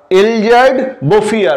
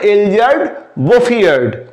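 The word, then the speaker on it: Elzéard Bouffier: বছর his name was এলজার্ড বফিয়ার উচ্চারণটা দেখে নাও হিজ নেম ওয়াজ এলজার বোফিয়ার এটা ফরাসি নাম ফরাসি উচ্চারণ এই লোকটির নাম হলো এলজার বোফিয়ার ফার্ম ইন দা প্লেনস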